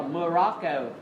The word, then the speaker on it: Morocco: Chúng ta xoam đầu tiên chúng ta đọc là Morocco, đúng không?